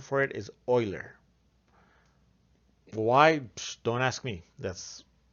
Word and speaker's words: Euler: be tempted to pronounce it euler the proper pronunciation for it is euler why don't ask me that's you know that's that's his name that's the mathematician's name that's how you pronounce it euler and e is known as euler's number because